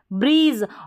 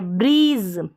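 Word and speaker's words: breeze: और Z को ज, ब्रीज, और लास्ट में ई साइलेंट है, ब्रीज, ई का उच्चारण नहीं होगा।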